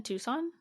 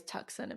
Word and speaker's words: Tucson: and not say it in my head when I write it I say it like that Tim I think I probably still like unless I'm like really thinking about I still say like toxin if I'm like that's